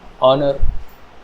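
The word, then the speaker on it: honor: जैसे है या है आवर या आर ऑनेस्ट ऑनर यहां पर एच की साउंड साइलेंट है ठीक है जब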